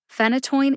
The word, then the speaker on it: phenytoin: also in the show notes check that out phenytoin is the only pronunciation given in the USP dictionary online I